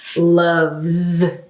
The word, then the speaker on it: loves: So that means when we add the S, it's not a S sound, it's a Z sound, okay? Loves, loves.